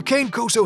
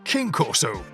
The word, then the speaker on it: Cane Corso: so many people have struggled with the proper pronunciation over the years that the kane koso has been given all sorts of nicknames and one of them is king corso which is totally understandable our only question is